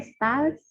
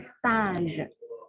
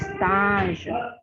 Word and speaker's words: stage: Ya, biar pengucapannya dulu bukan stage, tapi stage.